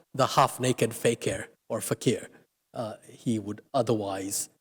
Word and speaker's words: fakir: Posing, he added, as a fakir or fakir, as he might have pronounced it, thus laying stress on the imposture that Gandhi represented.